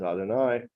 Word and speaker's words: Adonai: that's spelled yud kovke normally in prayer or when we read the Torah we pronounce it as Adonai but to reserve that